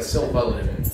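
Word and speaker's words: Sylvalyn: It's like Sylvan, but Sylvalin.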